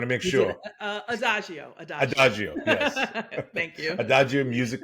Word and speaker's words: Adagio: at Adagio music Consulting LLC Lisa did I pronounce it right just want to make sure Adagio ad Adagio yes thank you Adagio music Consulting LC thanks